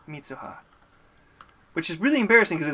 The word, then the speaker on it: Mitsuha: Mitsuha. 3 syllables. Mitsuha. It's a lot of vowels.